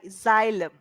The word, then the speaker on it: xylem: just imagine that there is Z sound there. Yes. Zelen. Zelen. Xylem.